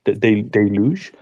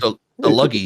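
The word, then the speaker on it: deluge: a de deluj deluj is the usual pronunciation. Sorry. This is one of those words that I have written a few times that never pronounced and the luggy it always dumps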